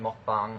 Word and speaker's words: mukbang: does a mukbang pronounces it mukbang. That is incorrect because, you know, the word mukbang is the two words eating, or eat, like, you know, consumption, and show. It's a Korean phrase, mukbang is, so it's eating, show, together.